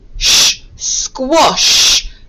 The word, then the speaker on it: squash: on your bingo boards squash so again i can hear a quest sound so after it i am looking for the short o sound which is spelt with an a squash here it is on